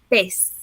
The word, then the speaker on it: pez: And this is for the word fish in Spanish, you say pez.